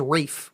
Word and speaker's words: Ralph: The thing I realized about it, why do I think his name is Rafe when it's Ralph? Because that's how it's supposed to be pronounced.